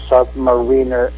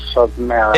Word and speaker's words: Submariner: If Stan Lee says that it's pronounced Submariner, not Submariner.